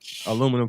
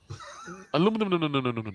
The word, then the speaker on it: aluminum: Aluminum foil wouldn't. Maybe for his head. Make a little hat. No. I can't get over how we pronounce that differently, you know. Aluminium? No. Yeah. Oh. Aluminum.